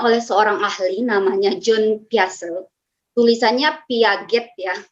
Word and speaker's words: Piaget: seorang ahli namanya John piase tulisannya Piaget Ya sebagian mahasiswa saya tuh bilangnya Piaget padahal udah berkali-kali saya kasih tahu ini bacanya bukan Piaget tapi biasa tapi masih juga